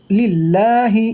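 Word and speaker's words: لله: উচ্চারিত হয় এটা বড় হা বলা হয় আলহামদু লিল্লাহি এখানে আল্লাহ শব্দের যে লামটাকে লা পড়া হচ্ছে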